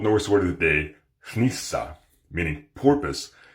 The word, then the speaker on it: hnissa: Old Norse word of the day, hnissa, meaning porpoise. It is an example of the voiceless N that exists in Old Norse. That's spelled HN.